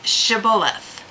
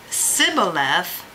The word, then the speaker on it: shibboleth: were asked all right say shibboleth and if they said sibboleth then he could tell by their pronunciation that they were actually